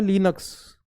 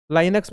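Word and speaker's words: Linux: तो इसीलिए कंपनी क्या करती है, लिनक्स, लिनक्स नाम की, लाइनक्स भी बोल देते हैं कभी कभी, प्रोनाउंस लिनक्स भी हो जाता है, ठीक है।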